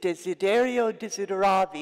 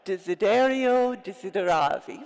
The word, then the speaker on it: Desiderio Desideravi: The name of it is Desiderio Desideravi.